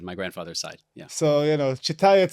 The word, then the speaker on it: Chitayat: Chitayat, Chitayat. Chitayat. Depends on where you are, what language you're speaking.